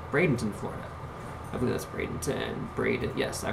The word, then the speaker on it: Bradenton: I believe that's Bradenton. Yes, I pronounced that right.